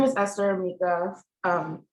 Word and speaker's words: Emeka: organization okay um sorry my name is esther amica um it's pronounced as an accent but it's a matter